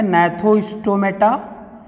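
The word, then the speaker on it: Gnathostomata: एक हमारा जो उपसंघ है वो है एगनेथा, और दूसरा जो हमारा उपसंघ है वो है, जी साइलेंट है, नेथोस्टोमेटा।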